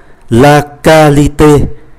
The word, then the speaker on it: qualité: Như vậy chúng ta vẫn đọc là ca, la qualité. Để chúng ta có cái khuynh hướng đọc là qua, bởi vì tiếng Việt Nam QQ là qua, ở đây phát âm là cờ. La qualité là chất lượng,